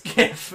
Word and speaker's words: GIF: over and over in your head like a gif it's not the truth it's pronounced GIF huh do GIF like the peanut